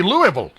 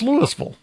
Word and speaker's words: Louisville: Because, you know, obviously it's supposed to be Louisville. Uh, no, it's Lewisville.